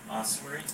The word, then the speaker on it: ossuary: Ossuary.